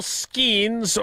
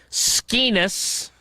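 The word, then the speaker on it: Skenes: Paul Skeens, or as he's referred to on our show, because Tausch mispronounces his name, Skeenis, won 11 games last year.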